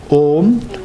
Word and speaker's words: Om: Om. This syllable Om is constituted of 3 letters, A, U, Ma, and these 3 letters, they symbolize your body, your speech and your mind.